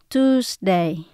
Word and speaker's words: Tuesday: Và chữ S là chúng ta phát âm như là âm Z. Tuesday, Wednesday, Thursday. Ví dụ mình muốn nói